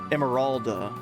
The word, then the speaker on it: Emeralda: Pronounced Jessica, thank you, Dr. Barber. Also, hey buddy. Emeralda.